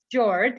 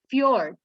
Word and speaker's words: fjord: is very tricky okay this one is not george it's fjord fjord fjord if you